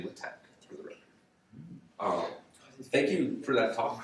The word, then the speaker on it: LaTeX: look at it better latex I think it's a couple people pronounce it but it's actually lit Tech thank you for that